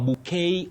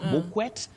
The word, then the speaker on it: bouquet: And Nancy, you say bouquet. A bouquet of flowers. Bouquet of flowers. Not bquet. Not bokequet. Bouquet. A very tricky word.